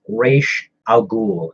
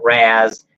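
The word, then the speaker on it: Ra's al Ghul: thing that's very annoying it's raysh al Ghul it's not razz it's not Roz it's Rach okay you know why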